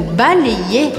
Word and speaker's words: balayer: Presta atenção que esse Y do verbo balayer eu pronuncio como se fossem dois Is. O primeiro I eu vou fazer o som E juntando com o A. Balé. E o segundo I eu pronuncio. Então fica balayer.